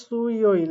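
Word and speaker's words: 수요일: এরপরে হোয়া ইয় ইল, এটার উচ্চারণ হয় হোয়া, ও আ ই ও ইল, হোয়া ইয় ইল। এরপরে সু ইয় ইল, এটা দেখতে পাচ্ছেন, এটা হবে সু ই ও ইল, সু ইয় ইল।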